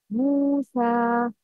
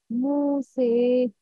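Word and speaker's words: موسى: You should open your mouth. Like Musa. The correct pronunciation is Musa. The wrong is, if you don't open your mouth, it will be like this. Musi, Musi.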